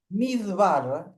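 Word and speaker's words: מדבר: Midbar, mid, midvar sería correcto.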